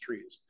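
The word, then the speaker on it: TRIZ: General problem uh in trees there's a very formal TR R Iz it's pronounced trees it's actually a Russian acronym but essentially it's uh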